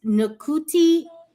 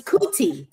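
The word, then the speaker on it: Ncuti: The N is actually silent just you know for my So it's cooti.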